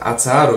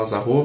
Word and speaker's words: Azzaro: Tem gente que fala Azzaro, mas eu acredito que a pronúncia mais correta seja Azzaro, né? Que é um nome, aparenta ser um nome italiano, né? Tem uns dois Zs aí e tal.